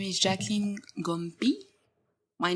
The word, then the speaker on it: Ngo Mpii: My name is Jacqueline Ngo Mpii. My name is actually, this almost the same writing that Mbappe. So you don't pronounce the N. You say just Ngo Mpii.